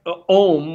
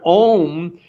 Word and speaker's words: om: said because the word om is well actually in the hindu culture in the hindu religion it's stretched out in pronunciation where you've got three sounds a-u-m and a represents bish